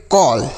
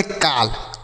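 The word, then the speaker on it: call: सी A double L इसे हम पढ़ेंगे कॉल। सी A double L कॉल। मतलब यह ऊपर वाला जो चांद बिंदी है इसको लगाना होगा। ठीक है? सिंपल नहीं पढ़ेंगे। काल।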